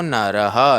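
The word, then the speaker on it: नरः: भक्ति मान में प्रियो नरह न र उसके बाद में ह विसर्ग है र के बाद में विसर्ग के विसर को ह पढ़ेंगे भक्ति मान में प्रियो नरह क्लियर वापस पुनः उच्चारण करेंगे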